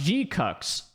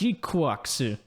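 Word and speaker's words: GQuuuuuuX: At first, I thought it was pronounced Gcucks, but it's actually pronounced Gquax.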